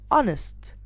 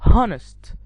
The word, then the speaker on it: honest: have this word it's honest not honest i have our not power i have ghost not ghost so here in these words the h is silent so as you can